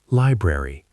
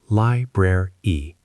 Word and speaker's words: library: Library, pronounced library, not library.